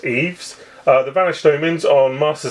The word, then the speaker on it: Ys: I believe it's pronounced Eves.